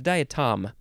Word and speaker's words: diatom: next word diatom I think it's diatom and not die oh no it might be no it's diatom diatom because it is spelled d-i-a-t-o-m diatom noun from 1845